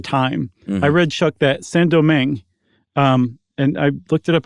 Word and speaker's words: Saint-Domingue: real gem in the French Empire, which was Saint-Domingue, which is now called Haiti, which was one of the most profitable plots of on Earth at the time. I read, Chuck, that Saint-Domingue, and I looked it up.